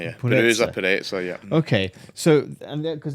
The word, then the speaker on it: Purezza: Purezza, yeah. Purezza, yeah.